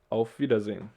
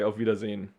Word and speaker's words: Auf Wiedersehen: we have again i and e together so it's a long i v yeah long i here and long e over there auf wiedersehen okay and because we're lazy we say not auf wiedersehen but we say au vidas in so we just skip this e here if you pronounce it